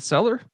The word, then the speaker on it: Seiler: Seiler. Is it Seller? Yeah.